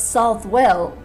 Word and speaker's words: Southwell: the mall now not that snooty the mal pronunciation don't get picky on me I was all for subtle you convinced me it's south well anyway so I think this egg land is